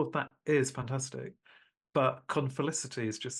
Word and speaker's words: confelicity: Confelicity.